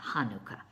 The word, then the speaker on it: Hanukkah: Chanukkah, oh, by the way, I forgot to say, if you don't want to do the Het thing, then just pronounce it with the H sound, Hanukkah.